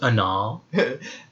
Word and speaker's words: Aanal: It's pronounced Anal.